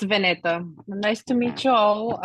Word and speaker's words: Vanita: thanks great thanks Danny uh Vanita did I pronounce that right you're next yes it's vaneta nice to meet you all um so I